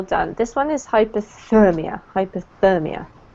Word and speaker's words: hypothermia: Hypothermia. Hypothermia. Sorry. Hypothermia. Yes. Absolutely. So the emphasis on the therm.